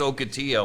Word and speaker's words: Ocotillo: it's Octitillo. I Okay. presume that's a Spanish pronunciation of it.